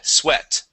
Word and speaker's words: sweat: word is sweat okay this is going to be a short e sound as well swe sweat sweat M very good